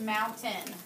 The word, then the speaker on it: mountain: With the A-I-N, look at the word mountain. It makes that N sound, but it's actually spelled with the A-I-N at the end. That sometimes can be a little bit confusing. There's mountain.